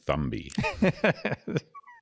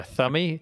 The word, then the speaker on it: Thumby: you're probably right because you don't pronounce the B in thumb. Yeah. Weird. I don't know. Well, I'll go with Thummy then.